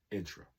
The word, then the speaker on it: intra: to int racial violence intra make sure I pronounce that correctly make sure y'all hear that I'm emphasize that intra i n t r a intra racial violence shutting down quote un